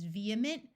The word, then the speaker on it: vehement: long Messiah and du there are some other words where H is silent in the middle such as vehement vehicle and prohibition note that the